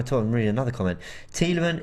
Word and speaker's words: Tielemans: Tielemans is a Flemish name, not French. Oh, I think he's telling me that this is why I should be pronouncing the S.